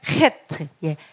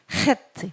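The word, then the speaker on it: חית: 그다음에 헤트 헤트 목구멍 소리가 나야 돼요. 네, 그래서 헤트. 그래서 8번입니다. 새로운 시작. 8번. H 발음. 헤트.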